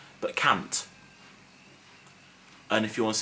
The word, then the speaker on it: cant: Well, 100 is cant. No, not can't, but cant.